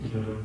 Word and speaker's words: waheguru: And we're gonna do waheguru. Waheguru just means glorious God, wondrous God, and everything. And we do it in two syllables. So you will just go: wahe-guru, wahe-guru.